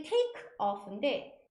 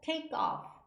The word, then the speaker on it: take off: 이게 take off인데 여는 발음은 take off, take off, take off 쌍기역처럼 발음이 됩니다.